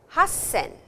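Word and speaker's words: 八千: Roxen, Nanaen, Hassen. And now you will see 8,000 is a short sound hassen and it is not juen but it is ichi man.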